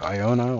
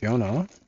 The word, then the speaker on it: Iona: the third one one with Iona or Jonah depending on why you wish should pronounce it also heard Yona still one of the